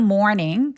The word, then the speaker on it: morning: 아침 시간에 근데 여러분 이거닝 발음할 때으로 발음하시는 분들 진짜 많아요. Morning 아니고 마치 더 달라고 할 때 그 더란 뜻이 있죠. more 고게 있다고 생각해 주시고요. Morning이라고 발음해 보세요.